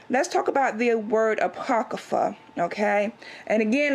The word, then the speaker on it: Apocrypha: dictionary a portal open and we have the Apocrypha unless let me press this button so you